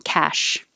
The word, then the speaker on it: cache: disease cash i i thought this could be pronounced cache when you see the little e with a